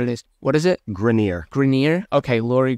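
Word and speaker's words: Greiner: Cuban and Laurie I don't know how to pronounce their last name I don't really know what it is what is it grineer grineer okay Lori Grenier and Mark Cuban 450 000 for six percent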